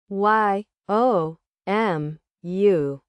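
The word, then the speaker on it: yomu: Y O M U.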